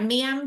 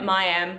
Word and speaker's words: Miam: me pronounce it right mam jars it's my accent as well it's terrible it's a funny story actually it's yum and it's a French word for Yummy I used to in